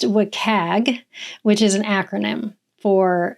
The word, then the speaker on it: WCAG: that we talk about in our conversation is pronounced wacag which is an acronym for uh well it's